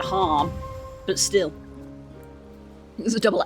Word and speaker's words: Haam: I think they pronounced it harm, but still.